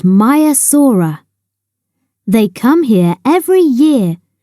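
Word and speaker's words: Maiasaura: protective over their young how do you say it mayasa say my a s in the sea many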